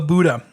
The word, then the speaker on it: Bouda: And then there's something called the Buddha. Now, this is a really interesting one because it is pronounced the same way as The Buddha. the Buddha.